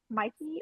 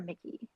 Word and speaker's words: Mikey: And I will say, like, okay, is it Mikey or Mickey? How do you say No, it's Mikey.